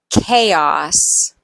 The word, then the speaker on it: chaos: sometimes CH sounds like a k chemistry choir or chorus chaos architect High Archy hierarchy character